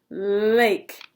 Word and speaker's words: lake: I forgot my silent E. I was making sure you're paying attention. I'm making sure. The E made the A say its name. Lake.